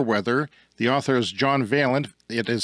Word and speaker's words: Vaillant: The author is John Vaillant. It is spelled Vaillant.